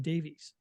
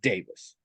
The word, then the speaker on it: Davies: he pronounces his name Davies yes which is a definite possibility the name is Welsh and it is traditionally pronounced Davis some people pronounce it